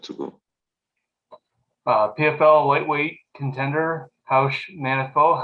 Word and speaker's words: Raush Manfio: It's Raush Manfio, yes. The Perfect. R in Portuguese sounds like I age here, but the rest is all equal.